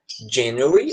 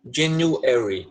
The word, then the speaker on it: January: Você pode falar January ou January.